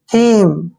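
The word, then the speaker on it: theme: टी एच को क्या पढ़ते हैं? थ, और ई को छोटी ई की मात्रा पढ़ेंगे, एम को मैं पढ़ेंगे, और ई का उच्चारण हमने नहीं करना है। थीम, थीम मीन्स होता है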